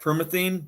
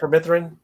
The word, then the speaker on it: permethrin: But if you use that, I might say it wrong, that permethine spray, you know what I'm talking about? Yeah, permethrin. Is that how you say it? Yeah, put that on your clothes and stuff.